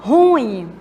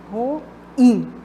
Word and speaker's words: ruim: tônica está na última roim tá então a pronúncia correta não é ruim e sim ruim e Pública não é